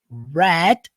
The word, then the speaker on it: read: Agora, se nós pegarmos essa mesma palavra e mudarmos a pronúncia, ao invés de falar read, nós falarmos red. Isso mesmo. Red igual a cor vermelha. Red. Pronto, você mudou para o passado.